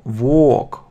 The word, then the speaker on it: walk: L не произносится, только чистое O. Walk, O, walk.